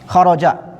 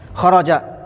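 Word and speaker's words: خَرَجَ: Kita mengenal dari fi'il madhi bahwasanya dia tuh mabni tetap alal fathi di atas fathah. Dibacanya fathah kharaja. Nah, kharaja di atas patah ini ya dibacanya kharaja.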